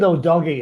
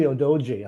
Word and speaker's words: Udogie: Actually, they pronounce it Odogi. It's actually Odoji.